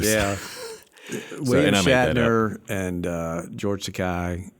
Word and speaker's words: Takei: William Shatner and George Takei and Takei, rhymes with toupee, as he reminded Bill Shatner.